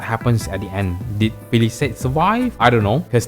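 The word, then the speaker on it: Félicette: If you don't know how to pronounce the name, it's called Felicette.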